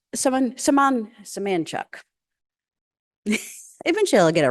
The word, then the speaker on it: Semanchuk: Semanchuk is an IT professional who lives in Pacifica Co-housing in Carrboro, North Carolina. His surname comes from and is it pronounced Limco? Limco people, and is pronounced Semanchuk.